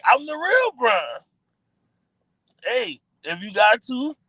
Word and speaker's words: Braun: Even though his name is Braun, but it. sound like you know going to say this ain't going to say it correctly they gonna say Brian let's chill out cuz